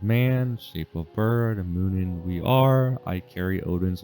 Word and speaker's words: Munin: one's called is going to forget how to pronounce it now just have to say it uh um it's moonin and who uh hoogan h-u-g-i-n-n uh they are